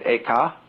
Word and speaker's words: Eka: The second was named Eka, I'm using the Japanese pronunciation, who was formerly a general of the army.